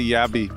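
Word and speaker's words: Jabbi: jabby I just say yabby yeah I like to do that as well because Jay isn't pronouncing a lot of languages like it's pronounced with a Y you know in a lot of languages like you that word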